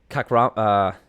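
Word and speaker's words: Kakhramonov: All right, Trevin Jones versus Saijukube Kakramanov.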